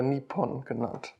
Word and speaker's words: Nihon: syllable that means sword japan isc alled nihon in japanese or nipon both terms are common in connection with swords